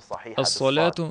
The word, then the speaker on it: ас-саляту: Ас-саляту нужно произносить правильно, через букву «сад». Нельзя читать «Аллахумма салли» через букву «син», поскольку смысл иногда меняется.